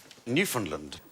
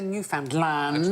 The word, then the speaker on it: Newfoundland: One thought it was new found land and one thought it was newfound land.